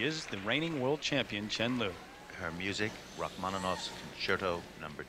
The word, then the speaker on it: Chen Lu: And while it is acceptable to call her Liu Chen here in the West, actually in China, the correct way to say it is Chen Liu.